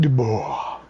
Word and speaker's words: Dubois: on stage we have David Dubois the S is silent he is David duor he's he's a he's